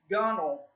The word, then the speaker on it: gunwale: we have the word gunnel now it's bell gunwale but it's pronounced that W is silent and ain't gonna get